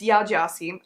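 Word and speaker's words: Yaa Gyasi: Correction, saying the name wrong. It's Ya Gyazi.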